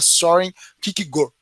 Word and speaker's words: Søren Kierkegaard: A pronúncia do nome dele mesmo, ele é dinamarquês, então a pronúncia do nome dele é meio complicada. Eu ouvi especialistas falarem que é Kierkegaard.